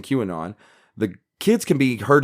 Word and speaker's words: QAnon: Ann and help me he pronounced Q Anon qnn because he was that new to the movement he was so new to Q Anon he didn't even know how to pronounce the name of it correctly and yet he took